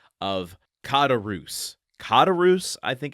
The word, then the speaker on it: Caderousse: haunted by this, I I looked up some pronunciations and of course there are some slight variations, but the one that seems to be most consistent is kadarus. Katarus. So, I'm just going to try to do that one moving forward.